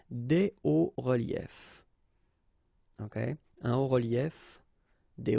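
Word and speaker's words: hauts-reliefs: then it's quite simple, because S and S, but then we don't pronounce them here. Des hauts reliefs.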